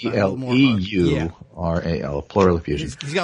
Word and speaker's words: pleural: So he's got broken ribs and it says here, am I pronouncing plural? A pleural Like effusion. plural, It's like a little more hard. P-L-E-U-R-A-L, pleural effusion.